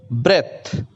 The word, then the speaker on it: breath: यहां ध्यान रखने बात यह है कि BREATH, ब्रेथ, इसका अर्थ सांस होता है, श्वास। और जब श्वास लेना यानी कि वर्ब के रूप में लाएंगे तो BREATHE होता है और उसका जो प्रोनाउंसिएशन होता है वो ब्रीथ होता है।